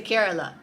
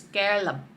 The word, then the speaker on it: Kerala: Now, in English we say Kerala, but in Malayalam the actual pronunciation is Kerala.